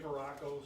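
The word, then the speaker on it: Veracco: sir can you say your name and and spell it please and your title sure verracco superintendent lake central school court v-e-r-a-c-c-o and to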